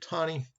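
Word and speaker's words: Taney: his names roger tani some people pronounce it tani but it's actually roger thani that reason i read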